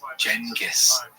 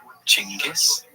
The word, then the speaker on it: Genghis: The name has quite a few pronunciations. Jenis, Chingis, Genghis, and depending on language and history, they're all acceptable.